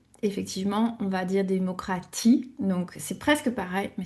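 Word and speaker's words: Demokratie: Alors soit on va dire démocratie comme en français avec le son pour le t, soit on va garder le son t, démocratie.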